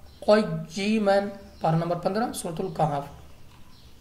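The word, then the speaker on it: قَيِّمًا: भी बगैर वक्फ की, लेकिन जब रवां पढ़ेंगे तो आप पढ़ेंगे क़य्यिमन, पारा नंबर 15 सूरतुल कहफ।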